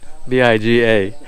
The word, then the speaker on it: biga: And by the way, I was just informed that the pronunciation in Tagalog for the beam is biga, B-I-G-A, biga.